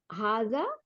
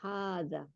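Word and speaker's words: هذا: পড়লাম সেটা হলো হুম হাজা এটার মধ্যেও হার সাথে একটা আলিফ ছিল কিন্তু লেখার মধ্যে থাকে না কিন্তু আমরা উচ্চারণের সময় এক আলিফ টান দিব হাজা তাই না আর হাদিহি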